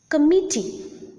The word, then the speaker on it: committee: Committee, deliver, committee, deliver. There are three syllables, and the middle syllable or the second syllable is the most prominent syllable, and hence the second or the middle syllable is the stressed syllable in these two words.